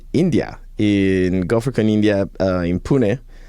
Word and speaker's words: Pune: So by the time this episode comes out, I will be in India, in GopherCon India, in Pune. Pune, which is how you pronounce it, by the way.